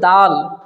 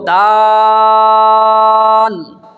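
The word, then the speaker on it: دال: দালের উচ্চারণ সেরকমই হবে দালের উচ্চারণ হচ্ছে জিহ্বার আঁক আর সামনের দুই দাঁতের গোড়ার থেকে দাল আদায় হয় যেমন তা আদায় হয়েছিল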